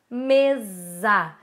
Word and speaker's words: mesa: Análise, mesa, certo? E aí eu trouxe também, essas são palavras que são escritas com S e que são pronunciadas com Z.